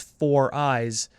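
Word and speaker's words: Foriys: They spelt 4 eyes purposely incorrectly, but they wanted it pronounced as 4 eyes, but they didn't want to write the word 4 or the number 4 on the name line for the card.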